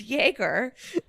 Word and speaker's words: Jaeger: it's pronounced Jaeger.